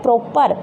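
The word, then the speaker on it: proper: जो लास्ट में रह है वो साइलेंट हो जाएगा, क्या बचा, प्रॉप।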